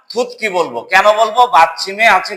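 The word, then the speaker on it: 듣기: তো সাংগিয়কে হচ্ছে ক, এই জন্য এটাকে বলবো থুত কি। থুত গি না, থুত কি মানে হচ্ছে লিসেনিং।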